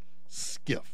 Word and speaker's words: SCIF: special compartmentalized information facility SCIF pronounced skiff every skiff every single